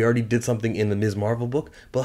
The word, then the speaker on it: Ms. Marvel: to see him in black panther speaking of miss marvel this has you know what i'm you know